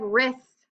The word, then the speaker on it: wrist: in front of it number two we have wrist if we listen to the word wrist your wrist it just sounds like r i SS but there's actually a silent W in front of it wrote I wrote a